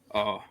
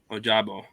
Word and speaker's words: Ojabo: So I was gonna go David Ojabu. I'm not pronouncing his name. Ojabo.